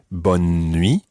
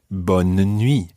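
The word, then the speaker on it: bonne nuit: pronunciation of that phrase sometimes it might be bun me almost with a kind of skipping n in the middle or other times it may be bon nui with almost a mini syllable in the middle there bun and me and that just really depends where you are either way it's correct bun and me bon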